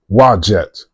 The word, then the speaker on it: Udjat: So Udjat is a Neteret, some say goddess, sometimes pronounces Wajet.